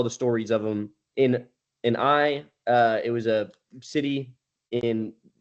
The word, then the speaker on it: Ai: Um, and so the most notable stories of this are Jericho and AI, and or it's pronounced I, but it's spelled AI.